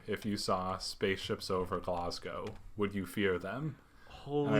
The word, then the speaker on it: Glasgow: I saying it right yeah yeah spaceships over glasow glasow okay yeah so the name itself I was